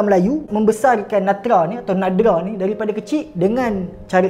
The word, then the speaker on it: Nadra: Okey, Natra ataupun nama sebenarnya ejaan dia Nadra, N-A-D-R-A, Nadra Ma'ruf, ataupun nama Belanda dia Bertha Herto atau Herbedina Maria Herto.